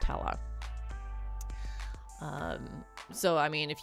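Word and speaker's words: Helle: And from my understanding of the pronunciation, it is pronounced like hella instead of just hell. Um, I could be wrong on that. Um, but from the research that I did, it seems like it's pronounced hella.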